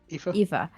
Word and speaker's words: Aoife: Eva.